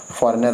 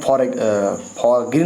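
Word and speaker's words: foreign: विदेशी परदेशी लोग नहीं, फॉरेनर आते हैं। हम फॉरग्रीन नहीं बोलते हैं, फॉरेन बोलते हैं, फॉरेन, ठीक है ना, ये आपको परदेशी हो गया।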